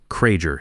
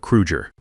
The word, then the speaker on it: Krueger: He mispronounced Hans's name Kraeger instead of Krueger, called him Herr instead of Chairman Krueger the way Hans preferred in English.